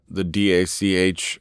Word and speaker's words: DACH: But you also won some awards, like you got Forbes 30 under 30 in the DACH region. How do you pronounce that, by the way, the DACH region? we say Dach, yeah, but in the DACH, German-speaking area of Europe.